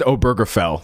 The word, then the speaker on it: Obergefell: Someone said Obergefell. Thank you. That's much better than the garbage pronunciation I gave.